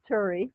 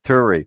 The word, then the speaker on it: Tuuri: Did I pronounce it right, or do you just say Tuuri? Tuuri. Turi.